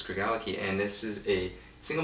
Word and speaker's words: Craigellachie: space that region called kragle aqui Craig aliquis sorry very common way of mispronouncing but i think it's greg allah ki and this is a